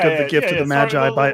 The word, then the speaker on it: Magi: That's how you know how to pronounce it. Magi.